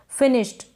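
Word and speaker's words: finished: ये जो एस एच है ना इसको श बन जाता है एस एच का और यहाँ पर आधा श प्रोनाउंस हो रहा है, आधा श पढ़ा जा रहा है। फिनिश, फिनिश्ड ऐसे नहीं, श पूरा नहीं प्रोनाउंस हो रहा है, फिनिश्ड नहीं, फिनिश्ड इस तरीके से।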